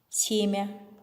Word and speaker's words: семя: Ребята, давайте произносим следующее слово без мягкого знака. Семя, семя.